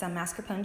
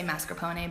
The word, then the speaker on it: mascarpone: mascarpone cheese with some heavy cream and some sugar, as well as vanilla and bourbon.